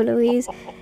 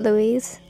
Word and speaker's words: Louis: if you say so Louise anyway I think I've been saying his name wrong I think it's Louis not Louise cuz I'm saying like the different version of it anyway back to the